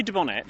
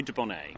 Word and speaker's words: Dubonnet: did you find that you can say de Bonnet some people say well this is something I've wondered about Americans say Dubai right uh there are three pronunciations should we say duponner we say de Bonnet